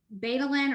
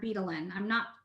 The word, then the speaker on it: betalain: in the plant that's called betalain or betalain. There's people pronounce it different ways, but that is what makes the color of it.